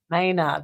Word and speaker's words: Mehner: Mehner.